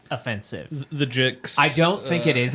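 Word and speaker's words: Jicks: The Jixs. I don't think it is offensive, but like just saying it, it's Steven Malchemist and the Jixs.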